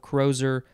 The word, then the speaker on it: crozier: crowstep crozier is next c-r-o-z-i-e-r variation of coroser or crozier however you want to say it spelled with an s